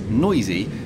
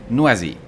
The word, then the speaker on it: Noisy: And yes, we can all see that says noisy, but the French insist on pronouncing it noisy.